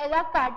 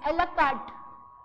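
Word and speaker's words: à la carte: अच्छा, French word की एक स्पेशलिटी होती है कि इसका लास्ट जो लेटर होता है वो साइलेंट होता है, राइट। तो इट्स नॉट एलाकार्ट, इट्स एलाकार्ट, टी तक ही बोलना है इसको, राइट।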